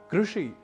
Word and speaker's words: कृषि: नहीं अर्थात ऋण ऋषि कृषि कृष्ण संस्कृत उपकृत कृत्य गृहीत जैसे कई शब्द हैं जिनका उच्चारण हमें रण या रुण ऋषि या ऋषि कृषि या कृषि इत्यादि के रूप में नहीं करना तो ऐसे ही उच्चारण